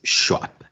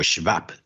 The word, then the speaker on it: Schwab: No hay nada más que verla en las fotitos con Klaus Schwab. O Schwab, que sería la traducción correcta, la pronunciación correcta.